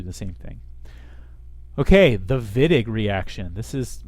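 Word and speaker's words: Wittig: same thing okay the viig reaction this is pronounced viig not Whig um so W's with a V uh vid won a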